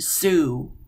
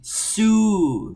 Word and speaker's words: Sioux: Sioux is pronounced Sioux. Like, say with me, Sioux.